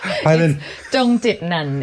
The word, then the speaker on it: Pailin Chongchitnan: Pailin Chongchitnan? Close enough. Pailin Chongchitnan is how you say it properly.